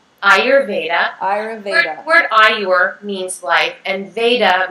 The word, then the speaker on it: Ayurveda: and i've been pronouncing i've been saying ayurvedic i know you say auravedic it's the ayurveda ayurveda i know it's the canadian me i say different things and people are like oh i can sense the canadian say it one more time ayurveda ayurveda means life